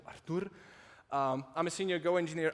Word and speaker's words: Artur: run linters so as matt butchered my name my name is artur but he went with like spanish pronunciation of it so artur i'm a senior go